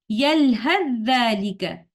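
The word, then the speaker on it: يَلْهَثْ ذَٰلِكَ: yalhath and dhalika, and when continuing in one breath without stopping at this sign, letter tha will merge into letter dhal, and we will say like this. يَلْهَذْ ذَلِكَ.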